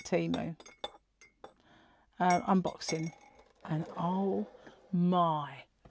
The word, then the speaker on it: Temu: How do you say it? Like emu or Temu? I call it Temu.